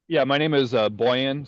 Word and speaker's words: Bojan: Boyan, so the J is pronounced like a Boyan. Y.